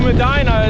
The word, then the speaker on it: Medina: well-deserved break before continuing on we're close to medina is how it's pronounced at about 32 miles of gravel riding